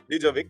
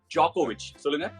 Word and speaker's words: Djokovic: D-Jovik Not D-Jovik, but Djokovic Actually, this isn't on you, because the 'D' in Djokovic is silent If someone reads it without knowing of this...